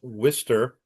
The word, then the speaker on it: Worcester: first official Ryder Cup competition hosted by the Worcester. I'm using the Boston pronunciation, Worcester?